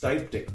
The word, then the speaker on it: styptic: so what is this this is styptic powder or pronounced Stipe tick powder and what it does